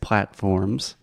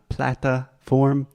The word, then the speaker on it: platform: podcast on all podcast platforms platforms platforms yes it is not Plata form platform platform excellent so wherever you get